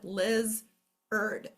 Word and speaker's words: lizard: Liz, erd. Okay, so here's your background singers, your unaccented syllable. This is going to soften a little bit. This is where we get lazy. We can't accent both syllables when we're talking. Liz, erd. So when you hear erd at the end, it's going to be spelled A-R-D.